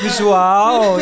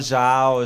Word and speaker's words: João: And suddenly you have to keep it up with João, you know. I'm going to teach you people say my name. This is not João, it's João, you know.